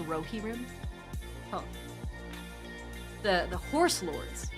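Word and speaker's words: Rohirrim: Uh, someone says it's pronounced Rohi. The ride of the Rohi. It It's really pronounced Rohiim.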